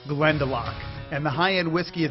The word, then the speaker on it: Glendalough: wait first let me say how would I pronounce it glendel you're close Brian but you're miles away it's called Glend delock and the high-end whiskey is now available in